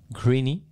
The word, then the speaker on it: Grigny: livre de Robert Grigny ça se prononce ainsi griny peut-être avec l'accent manuel connu ok qui